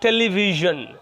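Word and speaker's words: television: টেলিভিশন, এই যে টেলিভিশন, ঠিক আছে।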